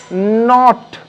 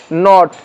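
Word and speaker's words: knot: একইভাবে নাইফ, কেটা উজ্জ বা সাইলেন্ট বা নীরব, নট, কে উচ্চারণ হবে না, শুধু এনওটির উচ্চারণ হচ্ছে নট।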